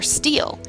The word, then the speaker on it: STHL: sites on the internet sthl or steel is short for southern tier healthlink steele is your local rio and manages this community's hie so how do these acronyms all fit together steel is the local rio